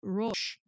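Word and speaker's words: ראש: However, Rosh, and it's spelled here, it's an R-O with an apostrophe S-H. So it's like Rosh. It's kind of like a little bit of a separation between that.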